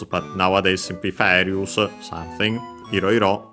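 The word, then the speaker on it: いろいろ: Iroiro, unaccented, like Iro on its own.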